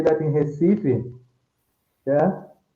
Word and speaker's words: Recife: For example, I can say that in Recife, yeah, they have Hmm. more opened vowel. Yeah. So I say Recife and they say Recife.